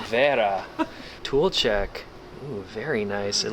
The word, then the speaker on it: Wera: exciting every time okay think about how a German would pronounce it there Vera tool check very nice